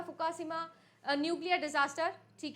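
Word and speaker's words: 福島: 2011 के अंदर आप लोगों का हुआ था फुका शिमा न्यूक्लियर डिजास्टर ठीक है फुका शिमा फुकुशिमा भाई बहुत डिफिकल्ट है प्रोनाउंस करना ये हुआ था अर्थक्वेक और सुनामी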